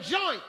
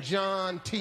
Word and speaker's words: John T.: I mispronounced the name of the group. It's Sasquatch and John T.